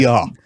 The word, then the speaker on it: Zaporozhye: And he corrected her in the Russian way, That's correct. Zaporozhye. Okay, Yeah.